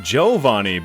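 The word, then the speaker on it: Giovanni: until I get to Giovani who I found out from my stream chat is pronounced joani but because he's the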